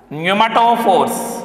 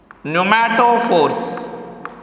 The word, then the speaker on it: pneumatophores: Respiratory roots are also called as pneumatophores or breathing roots. Pneumatophores. What it is? Pneumatophores. You please remember and pronounce it.